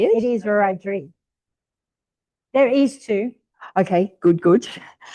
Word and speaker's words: Wiradjuri: is Wiradjuri.